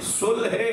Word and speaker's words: صلح: صلح صحیح تلفظ صلح ہے، ہم صلح کہتے ہیں تو دونوں کہہ دیتا ہوں.